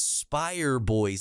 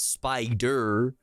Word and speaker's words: Spire Boys: a real spider boy you said it wrong it's Spire boys not spider Spire boys bro you already failed you